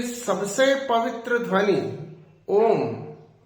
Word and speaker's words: ओम: अ, उ और म, इसमें 3 अक्षर है। अ का उच्चारण मुंह के आदि से होगा, कंठ के आदि से होगा। उ का उच्चारण मध्य से और म का उच्चारण मुंह को बंद करके होगा।